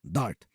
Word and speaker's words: D4RT: If you want to sound really cool, pronounce it as DART.